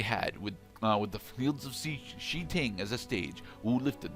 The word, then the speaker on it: Shi Ting: Shitting. Shi Ting, okay? I understand. I understand it's spelled shitting, but it's Shi Ting, okay?